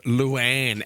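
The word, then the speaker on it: Louane: Her name is Lanne Ward. Lanne. and it's spelled with the two names L O U A N E L Lou and Ward.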